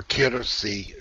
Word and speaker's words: Kirsi: The first one for our member, Kirsi.